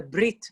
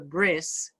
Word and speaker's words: brit: please don't get confused the letter tough without a dot in it was pronounced as an s so people who come